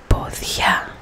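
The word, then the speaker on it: πόδια: This is podia, podia. The accent is on the a, a, a. If the accent was on the o, podia, it would be a completely different meaning.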